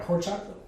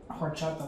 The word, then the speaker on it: horchata: It's a Keurig K-Cup horchata latte, and it's very good. That does sound good. You know the H is silent.